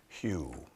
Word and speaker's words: HU: it's a mantra called Hugh it's written hu um it's a mantra you will find in many Traditions it's pronounced Hugh um and we sing